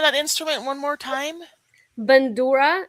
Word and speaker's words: Bandura: It's a Ukrainian instrument called bandura.